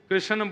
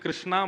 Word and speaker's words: कृष्ण: बोलो बाल कृष्ण लाल की जय बंधुओं कई लोग इस नाम को अशुद्ध बोलते हैं कई लोग कृष्ण बोलते हैं कई लोग कृष्ण बोलते हैं कोई कृष्णा बोलता है भगवान का नाम शुद्ध उच्चारण करो नाम क्या है कृष्ण भगवान जय श्री कृष्ण